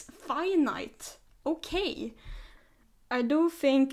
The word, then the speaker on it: Finite: to YouTube once and they pronounced it as the finite forest and I was like aha it's not finita it's finite okay I do think